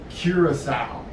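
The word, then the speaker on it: Curaçao: on cruising so first i'm here in beautiful curacao that's how you pronounce it just like healing a pig hear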